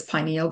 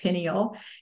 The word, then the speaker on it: pineal: So you could also take this pineal gland, and some people say it pineal, and some people say pineal because it looks like a pine cone.